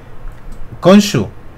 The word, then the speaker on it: Khonshu: ¿No sabéis cómo se pronuncia? ¿Nadie se atreve? Khonshu.